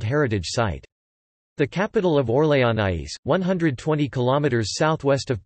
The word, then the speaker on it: Orléans: or lay on UK French pronunciation Lee is a Prefecture in commune in